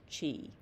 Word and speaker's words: Qi: According to practitioners, the healing effects are mediated by channeling the universal energy known as Qi, pronounced Chi.